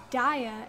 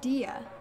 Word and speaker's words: Diya: even more like it if you say your name wrong like daya instead of dia oh yeah I already